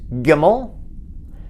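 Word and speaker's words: גימל: lower right hand corner the next letter is gimmel it's the hebrew name for camel and it makes the sound of a ga not a soft ja but a hard the next letter is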